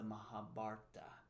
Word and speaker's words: Mahabharata: correct me and say, it's the Mahabharata. So I may say... I don't know if I say it like that. Okay, somebody corrected me. I think you corrected me. But well, it's just, you just have to say the BH with some emphasis, with some oomph.